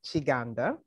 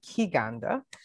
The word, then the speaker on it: Kiganda: the conversation uh so my name last name is pronounced shiganda uh people also say ki ganda um either one is fine um but i was